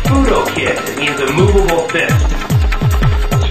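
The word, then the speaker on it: Fudo Ken: It's pronounced fudo kid.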